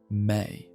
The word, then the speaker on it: me: The Sumerians conceived that the gods had established a fundamental cosmic principle called me, pronounced may.